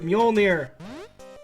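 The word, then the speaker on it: Mjölnir: just destroyce you have mjolnir which is like a Castlevania ax if I remember I'm not gonna try to pronounce that The The J is a y no no okay nakarashi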